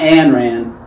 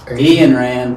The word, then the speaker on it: Ayn Rand: This is not Ayn Rand, it's Ian Rand. Ayn Rand. Yeah, say it like you're from Arkansas and you'd be good.